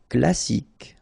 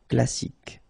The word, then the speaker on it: classique: Classique. Okay, so exactly the same thing. You don't insist on the final E, so you get K as the last sound. Classique.